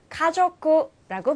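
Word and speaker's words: 家族: 자, 가족은요, 가족구라고 발음합니다.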